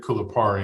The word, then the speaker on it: Kulipari: It's interesting because when I created Kulipari, and that's how you pronounce it, right?